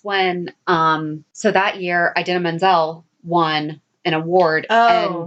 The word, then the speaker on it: Idina Menzel: won an award oh john travolta butchered her name and that's what she said was adele dazeem or that's what he said he called idina menzel adele done scene oh so that's a